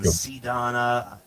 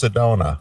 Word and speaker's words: Sedona: sister yeah Sedana geeeez is it Sedana it's Sedona oh okay yeah Sedona well it's pretty obscure